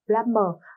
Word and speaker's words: plumber: Duy nhất cái từ ở đây chúng ta có letter B ở đây là plumber. Âm B ở đây là âm câm nhá, không có.